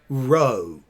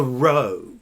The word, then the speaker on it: Rho: R-O-E, row.